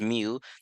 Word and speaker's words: mu: mu is pronounced meal even though looks like a u it's pronounced mu now that one we